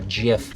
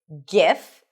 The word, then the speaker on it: GIF: So, there are actually two legit pronunciations. GIF or GIF. The first one is GIF with a hard G sound. GIF. And the other one is GIF. GIF and GIF. Both are acceptable.